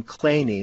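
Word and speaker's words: Kleene: mathematician named Steven Clean he weirdly pronounced his last name clany but anyway he started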